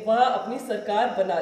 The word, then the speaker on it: Tsar: सार के अंदर टी is silent, therefore T एस ए आर को हम प्रोनाउंस करते हैं सार.